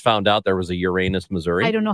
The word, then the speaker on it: Uranus: in the store and employ says welcome to Uranus and their slogan is the best fudge comes from Uranus and that is how it's pronounced I didn't know that unbelievable Uranus Missouri is two hours Southwest of of us